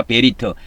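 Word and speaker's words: בְּרִית: 그래서 구약에도 어 구약에도 옛 언약이라 그러죠.이 언약을 히브리 말로는 베리트라고 합니다. 베리트. 베리트 이렇게 발음합니다.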